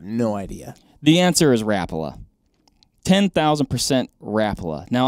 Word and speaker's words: Rapala: rapala i was like oh snap i've been saying it all wrong it's rappola why would it be rapala because it is i think you're putting the emphasis on the wrong syllable r-a-p or whatever that is ala i think rapala my